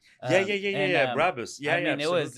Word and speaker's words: Brabus: It's a Barbus. Yeah. Brabus.